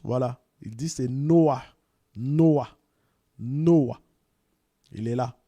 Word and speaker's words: Noah: Et il va nous dire un petit peu comment on le prononce. Voilà. Il dit c'est Noah.